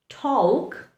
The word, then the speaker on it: talk: Letter L likes to remain silent in words where it is very hard to pronounce the letter.